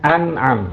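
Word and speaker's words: أنعام: Nah, hewan ternak ini disebut dengan zakat an'am. Membacanya an'am ya.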